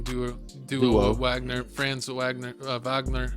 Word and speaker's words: Wagner: do Wagner France Wagner Wagner actually is the correct way to say it he's German and Paulo uh benero